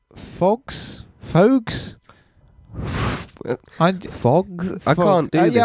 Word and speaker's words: Phogs: We also checked out a game called Phogs? Phogs? I can't do this I think it is Phogs, because I keep going to say fucks, but it's PHOGS, yeah. PHOGS, yes. That's the way she pronounced it.